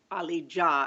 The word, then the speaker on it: Ali Dia: American and I didn't even really know of Ali Jah as it's pronounced not Dia as I know everyone or or Dia as everyone has pronounced uh all these years